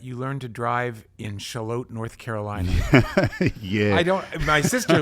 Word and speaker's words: Shallotte: No, and because of my sister living there, I wondered, you know, I hesitated to say to people Charlotte because it sounds like Charlotte, like I'm mispronouncing Charlotte.